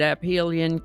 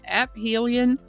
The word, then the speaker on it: aphelion: By the way, I am informed that aphelion can be pronounced aphelion or aphelion.